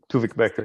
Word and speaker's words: Tuvik Beker: two spell your name right to wick pekka two wick backer yeah that's what that's right spelling and right pronunciation thanks christian it's uh really great to